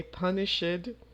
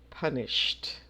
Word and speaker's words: punished: child for lying again don't say punish it punish it is not correct we say punished number five we reached